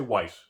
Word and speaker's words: Weiss: Not Weiss, don't say it correctly with the accent. Just say Weiss. Americanized, annoyingly sounding.